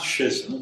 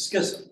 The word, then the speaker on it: schism: Not schism, it's schism.